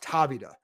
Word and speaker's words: Tavita: Nathaniel Roberts, you mentioned Tavita, and it is pronounced Tavita, because I even asked him, possibly taking over for Bieniemy if he becomes a head coach.